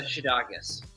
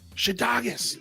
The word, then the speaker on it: Szydagis: of your last name it's uh shidakas shiddagas is way off yeah use this way off the sz is like an sh it's polish ah love it i love